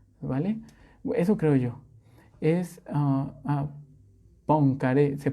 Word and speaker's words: Poincaré: Es Poincaré, se pronuncia Poincaré, bueno, sí, ahí sí.